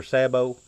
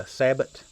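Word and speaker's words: sabot: it's sabriniki USA super Sabo now my local friends are going to call that a Sabbat I don't care how you pronounce it I know what you're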